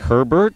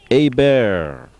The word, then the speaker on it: Hebert: The French pronunciation looks like Herbert, but pronounced Hebert.